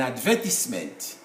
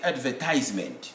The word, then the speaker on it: advertisement: For example, in the UK, people say an advertisement. But in writing, we have an E after S before M. American will say advertisement. So, in the UK, that E in advertisement is silent.